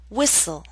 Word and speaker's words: whistle: say Christmas only Christmas now here's a list of words in which a t- sound is left out note that this list is not complete listen as I say the words bustle Christmas hustle mistletoe whistle wrestle now bustle and hustle